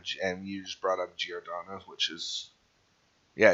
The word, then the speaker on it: Giordano: players but i think godanna's going to put some work in when he finally gets a full season to show himself i'm pretty i'm pretty sure it's pr pronounced giordano okay man that has